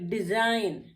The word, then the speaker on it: design: फिर डिजाइन, DESIGN, फिर हमारा एन से पहले जी है तो हम इसको डिजाइन, डिजाइगन नहीं पढ़ते हैं, डिजाइन।